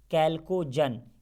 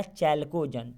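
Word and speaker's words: chalcogen: तो इसको बोलते हैं कैल्कोजन या चैल्कोजन, ठीक है ना। स्पेलिंग CH से होता है, तो कैल्कोजन याद रखिएगा आप।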